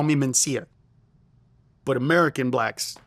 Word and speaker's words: Mencia: lot, by the way, say my name with two N's instead of Mencia, are African Americans. African Americans, in a decent portion of them, will say Carlos Mencia, Carlos Mencinas, not Mencia.